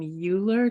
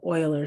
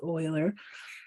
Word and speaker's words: Euler: his name is Euler I want to call him Euler because that's what it feels like I should say but other mathematicians who have pronounced his name they call them Euler so I'm going to go with Euler Euler proposed what that